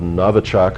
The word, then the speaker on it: Novichok: There's a recent one put out by the Russians called Novichok, I believe it's pronounced, which is a newcomer.